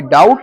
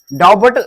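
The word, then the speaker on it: doubt: वही डाउट होता है डी ओ यू बी टी डट डट पढ़ेंगे इसको डट नहीं गलत है डट नहीं पढ़ेंगे इसको क्या नहीं पढ़ेंगे डट नहीं पढ़ेंगे डाउट पढ़ेंगे उसको डाउट क्या पढ़ेंगे उसको डाउट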